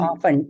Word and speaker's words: often: Often, T.